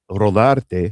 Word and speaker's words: Rodarte: I pronounce it Rodarte because that's how it's supposed to be.